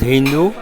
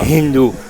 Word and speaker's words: Hindu: So it is named after the river Sindhu, right, which in Persian is pronounced Hindu. right, So without aspiration, not dhu but du, and s becoming ha. So ah, Hindu.